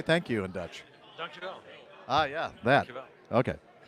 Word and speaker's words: dankjewel: Dankjewel.